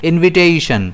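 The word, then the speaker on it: invitation: इसे हम प्रोनाउंस कैसे करते हैं? इनविटेशन। इसमें स्ट्रेस रहता है टी पर।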